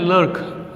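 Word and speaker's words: Klerk: Then on the stage mister D लर्क, क्लर्क नहीं है लर्क, ये के साइलेंट में आएगा, लर्क फर्स्ट स्वान।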